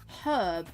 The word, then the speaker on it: herb: the h sound however when we say herb we emphasize the H herb, but I know a lot of the US call it herb. They completely make the H sound silent for some unknown reason.